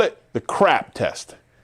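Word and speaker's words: CRAAP: And we call it the crap test. That's right, crap. But this one is spelled C R A A P.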